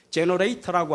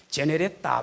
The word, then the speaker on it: generator: 영어로 제너레이터라고 하지요. 옛날 우리 연세 높으신 어르신들은 제네레타 뭐 그렇게 발음하시대요. 일본식 발음으로. 제너레이터, 그게 GENERATOR, GEN이 바로 발생, 전기를 발생시키는 장치다.